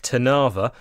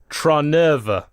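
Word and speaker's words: Trnava: pointing this one out it's try nerver and what about the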